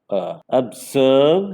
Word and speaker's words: observe: See, words with weak prefixes will have the stress on the second syllable. So here O itself is a syllable and the next syllable starts with b sound. So you have to give stress on b.